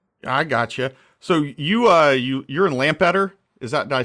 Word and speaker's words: Lampeter: So you're in Lampeter. Did I pronounce that correctly? Yeah, if you pronounce it Lampeter and then say it quickly, Lampeter, that would work.